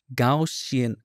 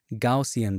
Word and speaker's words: Gaussian: little let's go to filter blur and then gausian goian I always have a hard time pronouncing it gaussian blur and 08 or one is fine 6